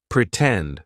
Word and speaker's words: pretend: Pretend, for example. In the word pretend, the stressed syllable starts with T, tend, pretend, right? So, we're going to use the true T sound, and then we can